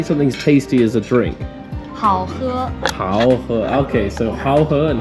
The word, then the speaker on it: 好喝: 好喝.